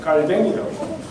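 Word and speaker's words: Calvin: 그래서 저도 불어를 잘 이렇게 발음이 안 좋아서 그런데 하여튼 브로클에서는 깔뱅이라고, 그래서 깔뱅이라 그러면 칼빈, 이렇게 같이 같은 사람이다 이렇게 하는 거예요.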